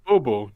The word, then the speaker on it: Bobo: I was like, no, it's Bobo.